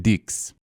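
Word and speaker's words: dix: him no Mr cier in French the number 10 is pronounced dicks and by all means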